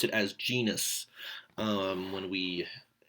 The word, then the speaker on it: genus: But we pronounce it as genus when we, just say it as though it's an English word. But it is technically Latin. It would have that hard G.